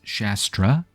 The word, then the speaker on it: Shastar: Now, I'm going to say Shastar, even though I looked at the pronunciation for like this typical type of Indian warrior, and it's Shastra, but it's spelled differently. It's just, you know, there's like an R here instead of an A. So maybe I'm misunderstanding something, or maybe in Malifaux they use the name Shastar for some particular reason.